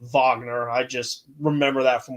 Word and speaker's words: Wagner: I know that says Wagner, but over there they pronounce it Vagner.